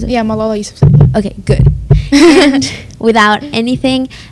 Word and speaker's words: Malala Yousafzai: Is that how you pronounce it? Yeah, Malala Yousafzai.